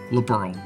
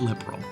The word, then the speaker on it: Liberl: I am 99% sure Liberl should be pronounced as Liberl, not liberal.